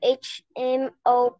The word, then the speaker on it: HMO: An HMO plan. H is pronounced H here.